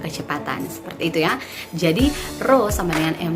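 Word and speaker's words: ρ: bisa lihat di itu ini bukan peya bacanya Bu Ya Allah ini besinya ro ro = massa dibagi dengan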